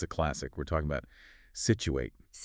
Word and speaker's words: Scituate: We're talking about Situate. Situate.